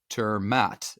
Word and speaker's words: ter Maat: is Greg and again our guest is Mike turmat and I I hope I am pronouncing that correctly Mike will tell me here